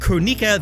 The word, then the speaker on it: Kronika: Number 9, Kronika. Status, officially confirmed as a story character, but playable to be confirmed. Yes, it's pronounced Kronika, this time-manipulating sorceress is being retconned into the